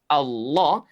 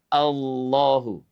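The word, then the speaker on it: الله: Lafaz Allah jika didahului oleh dua tanda baca tadi, fathah domamah, maka lafaz Allah dibaca tafkhim, tebal. Lafaz Allah dibaca tebal dengan cara mengangkat pangkal lidah kita ke langit-langit.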